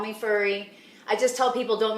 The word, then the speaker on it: Furry: Well, I have to correct you on my name because a lot of people think my name is Fury, which I am half the Fury, but it actually is pronounced Furry with 2 R's.